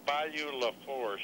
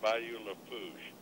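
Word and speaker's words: Bayou Lafourche: Well, it's not Bayou La Fourche, it's Bayou La Fouche. Oh, you don't pronounce the R.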